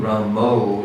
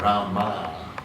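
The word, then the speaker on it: राम: I think Ramo is a bit too much. I think the A though is not Rama. It's not a long A, it's a short A until it becomes a soft A, Rama, then Ma. And if you chant Ma, some people hear that as O. I think that's A. So it's subtle.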